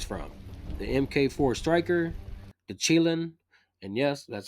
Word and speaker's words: Chilin: For the assault, there's 8 guns to choose from: the MK4 Striker, the Chilin, and yes, that's how you pronounce it.